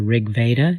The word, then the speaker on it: Rig Veda: of the gods mentioned i think in the rig veda is that how you say it yes yeah